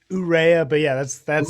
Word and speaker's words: Urrea: do i have that do i have the pronunciation on that right uh it's it's urea but yeah that's that's right with me i'm